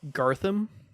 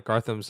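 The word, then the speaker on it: Garthim: Gartham. Oh, Gartham. My bad. Yeah, bad pronunciation. Yeah. Okay, Gartham's like.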